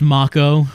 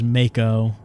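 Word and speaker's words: Mako: there boxes I guess it makes sense that it's pronounced ma Co but I always you know playing it as a as a teenager I thought it was Maiko sounds weird in my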